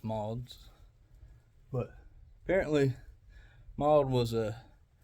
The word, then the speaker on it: Maude's: Apparently I was pronouncing it wrong, it's not Maude's, it's Maude's.